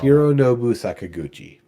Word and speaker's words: Hironobu Sakaguchi: I'm not gonna remember all Hironobu Sakaguchi.